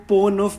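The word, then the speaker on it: Pont Neuf: Paris के bridges पे रहते होते हैं जिसको पोनोफ बोलते हैं. Like I एम not again sure about the pronunciation because it is spelled like पॉन्ट knee of.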